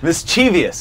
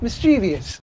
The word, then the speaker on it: mischievous: getting all mixed up fifi is mischievious yes mischievous mischievous welcome to Taurus